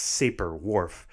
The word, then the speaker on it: Sapir: These claims, from weak to strong, got the nickname Sapir-Whorf, which I often hear pronounced Sapir-Whorf.